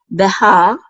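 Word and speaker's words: בְּהַר: So we say ha, Behar, and this means mountain.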